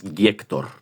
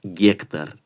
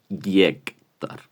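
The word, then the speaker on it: Гектор: Y vuelvo a pasar lo de las O's, no es Giector, es Giector, porque el acento cae sobre la Y, Giector.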